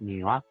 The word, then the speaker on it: Niwa: But their name is Niwa. You say it like that, Niwa.